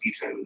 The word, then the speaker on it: Guto: I I don't know Guto Harry, but everyone that's talked to me about